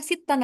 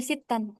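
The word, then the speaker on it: سِتًّا: Nah, asadisah illa sittan. Nah, ini perbedaannya pakai sittan. Kenapa? Karena ada wwu di sini. Laisa sitta tapi bacanya sittan.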